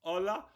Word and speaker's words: Hola: silent h a it's a silent h it's a soft H it's a soft H